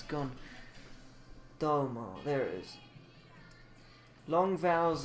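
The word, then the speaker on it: どうも: So we do mo or domo. It's domo.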